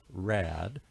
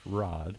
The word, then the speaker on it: Raad: And one question that came up which I never thought about is the the name it looks like it's Rad but it's spelled it's pronounced Rod.